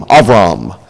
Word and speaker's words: Abram: was called of Rama is the way he pronounced into the Hebrew it's all wrong Abram Avram now these are the records of the generations